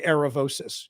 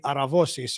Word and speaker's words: Aravosis: my last name well because I'm American so we say aravosis it is officially aravosis in Greek but for Americans we say aravosis um so yes I